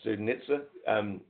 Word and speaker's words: Studenitza: While I'm here, I will talk about Studenitza. That's how it's meant to be pronounced. It's a Eastern European name.